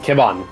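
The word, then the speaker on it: Kebhon: e b h o n whatever you want kibon is how is the how it's pronounced continue okay and I I'll I'll take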